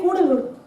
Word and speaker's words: கூடலூர்: செழிப்பா இருந்த ஒரு ஊரு அதோட பேர் கூடலூர் ஸ்பெல்லிங் பார்த்தீங்கன்னா சிடி ஏ எல் எல் ஏ தெலு தான் ஆனா பிரிட்டிஷ் வந்து அதை உச்சரிக்கும் போது கடலூர்னு சொன்னாங்க கூடலூர்னா என்ன அர்த்தம்னா கன்வெர்ஜென்ஸ்